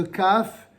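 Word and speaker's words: כּ: c'est V et ben le le CAF va se prononcer CAF avec un point et le KHF sans point CAF KHF en phonétique ce sera K et KH c'est clair alors je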